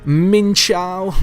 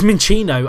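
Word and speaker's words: Minccino: Jim who is a minchow mow who is or minino is it mincho it's minino I've just remembered how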